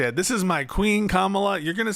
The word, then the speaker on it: Kamala: Like Camala Harris uh Re something that voters appreciate is you will say her name right. I'm so tired of this This is my queen Kamala.